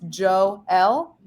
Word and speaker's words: Joel: In the MLB pronunciation guide that was sent to us earlier today, it says pronounced Joel.